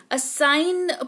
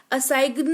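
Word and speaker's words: assign: तो सिर्फ एन का उच्चारण होता है और जी जो है वो साइलेंट रहता है। तो इसको फॉर्गन नहीं फॉरेन पढ़ेंगे। जिसका मतलब होता है विदेशी। असाइन पढ़ेंगे। असाइगन नहीं पढ़ेंगे जिसका मतलब होता है सौंपना।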